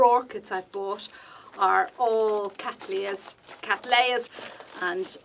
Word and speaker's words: cattleyas: i've bought are all cattleyas cattleyas and i'm sorry i really just can't say catalia i know it's the correct pronunciation but it's just doing